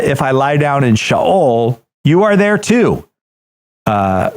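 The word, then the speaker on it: Sheol: you if you didn't it is not shol it's shaol good well thank you I learned uh if I lie down in shaol you are there too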